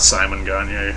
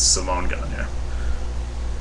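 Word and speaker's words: Simon Gagné: It's not Simon Gagne, it's Simone Gagne.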